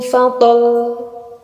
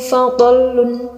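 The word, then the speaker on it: فضل: Wabilu fadl, fadl, fadl. Nah, kita kan menekannya ya, lamnya itu terdengar ditekan. Wabilu fadl. Jadi seperti itu cara membacanya. Cara membaca yang salah seperti ini. Wabilu fadlun. Nah, itu kurang tepat karena ini berhenti. Wabilu fadl. Nah, itu kurang. Itu cuma disukun, kurang ditekan huruf lamnya.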